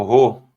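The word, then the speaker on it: ῥῶ: o outro é o ro ro exatamente lembramos da palavra rei rei rei né então ro ro é na na garganta né É É um R mais puxado né Rual é ro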